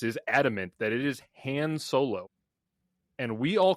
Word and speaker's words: Han: George Lucas is adamant that it is Han Solo. And we all call him Han Solo. All of us do. And in the movie, multiple characters call him different things. Some call him Han, some call him Han.